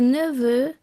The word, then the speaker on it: neveux: So, for example, un gâteau, a cake, des gâteaux, cakes, un neveu, a nephew, des neveux, nephews. Notice that the X which forms the plural is silent.